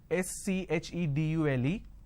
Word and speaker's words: schedule: I mean by this the British pronunciation is schedule and American pronunciation is k schedule and this is a